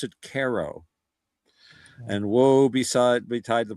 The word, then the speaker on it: Cairo: C A I R O. But they pronounce it KO.